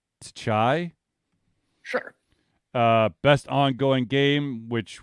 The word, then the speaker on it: Tchia: It's TCHIA, so Tchai.